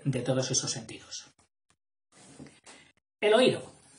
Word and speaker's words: oído: El oído. Que va con acento en la I, porque son 3 sílabas. Oído.